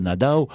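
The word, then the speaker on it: Nadau: ne savent pas mais ça s'écrit nadeau mais la baillerie de prononcer nada cathy lequel il le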